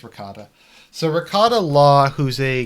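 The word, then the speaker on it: Rekieta: So How do you pronounce his name? Rakita? I think it's Ricotta.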